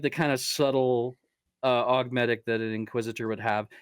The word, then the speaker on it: augmetic: Like, one augmetic eye is absolutely something that, and I say augmetic instead of augmentic because I'm used to the British pronunciation from all the books on tape, and you won't be